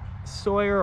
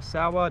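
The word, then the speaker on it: Sauer: next up i actually think is the sig sawyer or saw depending how you pronounce it mcx virtus replica this is a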